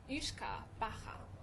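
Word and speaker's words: uisce beatha: For all of you Ushka Bacha. watching from Ireland, did Shinmon pronounce that correctly? But Ushka, it sounds like whiskey, right?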